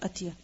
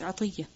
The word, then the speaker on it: عطية: By the way, the name is also عطية, not أتية. Okay? Because some people, their name is عطية, and people call them أتية. It's not أتية, it's عطية.